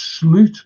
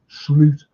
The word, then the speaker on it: Slot: And it's Sloot, by the way. Yeah, that's how you pronounce his name, Sloot.